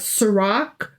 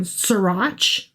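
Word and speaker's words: Sirach: We've got Sarak, which I have been pronouncing Srirach because it's a ch. Sure. Um, but it apparently is a hard C or a K, if you will.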